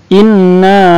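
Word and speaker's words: إِنَّا: Inna. Nah, panjang. Jangan inna, tidak boleh, harus panjang.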